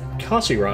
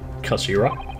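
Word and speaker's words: 頭: about this with you it's written as head in Japanese but it's pronounced as Kashira I believe Kashira Shakira Shakira so Mr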